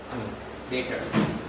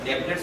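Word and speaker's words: debtors: डेटर्स है ना, डेब्टर्स नहीं बोलते इसको, क्या बोलते हैं? डेटर्स। बी का प्रोनाउंसिएशन नहीं होता, सीधा डेटर्स।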